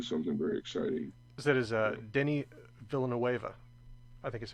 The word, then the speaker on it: Denis Villeneuve: That is Denis Villeneuve. I think is how you pronounce it. Denis Villeneuve.